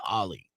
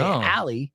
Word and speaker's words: Ali: who's a dude who gets extremely offended when you say ollie right really yeah because it's not how you're it's not a proper pronunciation you know yeah so